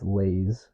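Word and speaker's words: Layz: her stage name is lays l a y z pronounce Lays and her real name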